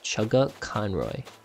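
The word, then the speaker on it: Chuggaaconroy: say that as well by the way is pronounced chugga conroy yeah chugga chan right how would anybody else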